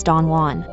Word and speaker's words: Don Juan: stanza 10 of Byron's Don Juan. A title, incidentally, pronounced /dandun/ by the author, as the poem makes clear.